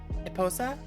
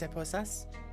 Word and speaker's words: esposa: That's Eposa? Eposa? How is that pronounced? Eposa? Dos esposas? Esposa. Oh, I missed the S.